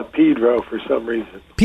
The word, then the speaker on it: Pedro: You know, uh, here we call it Pedro for some reason. Pedro? Yeah. Is that how it's actually pronounced?